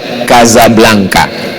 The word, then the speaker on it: Casablanca: Tulisannya Casablanca. Cara bacanya Kazablanka.